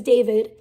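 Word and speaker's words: D4vd: Go to his channel, D4 VD, that's how it's spelled, but his name is David.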